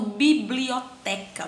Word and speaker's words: biblioteca: Aqui eu tenho biblioteca. Vamos lá. Biblioteca. A sílaba tônica dela, biblioteca. Então é o té. A sílaba tônica é a penúltima.